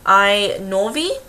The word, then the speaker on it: Inouvi: So, um, this video is actually going to be a review on, um, a particular cosmetics brand called I Norvi, and it's spelled I N U O V I Cosmetics.